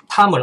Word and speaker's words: Tom: 나는 옥스포드 대학에서 영어를 가르치는 탐을 알아. 여러분 이게 TOM이라고 톰이라고 읽으시면 안 됩니다. 탐입니다.